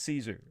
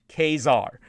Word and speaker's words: Caesar: and by the way, the correct pronunciation in the Latin is Caesar, just so people know, and it is from where we get... In Latin, it's Caesar? Yes, in Latin it is Caesar.